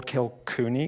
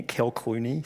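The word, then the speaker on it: Kilclooney: a british peer wall kill cooney kill clooney sorry i shouldn't i should say his name right um referred to her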